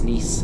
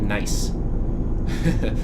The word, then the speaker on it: Nice: I know that it's Nice instead of Nice, or Toulouse instead of Toulouse, or however a normal person who doesn't understand French might say it.